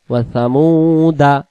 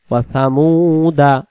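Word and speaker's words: وَثَمُودَا: এটাকে শব্দের অর্থের জন্য ব্যবহৃত হবে, কিন্তু উচ্চারণে পড়ার সময় পড়তে হবে না। ওয়াসামুদা তাড়াতাড়ি, ওয়াসামুদা।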